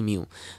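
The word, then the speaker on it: mu: Mason এবং এটা আসলে এই মিউ আমরা এভাবে উচ্চারণ করে থাকি মিউ তাহলে মিউ মেসনের কথা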